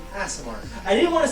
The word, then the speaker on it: Aasimar: It's Aasimar.